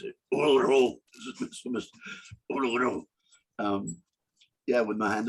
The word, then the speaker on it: Uluru: I spent the rest of the day walking around Uluru, and that's how they pronounce it. Uluru.